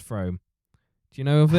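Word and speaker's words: Frome: of uh from from I said it was from because it sounds French and then I think it's pronounced from do you know of it how's it spelled f o f r o m e uh I'm going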